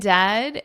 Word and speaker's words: dead: And dead, it's said like bed, not bead.